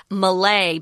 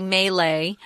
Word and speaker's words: Malay: Now, when I read this, Tom, I pronounce Malay, but you say Malay. They're both correct.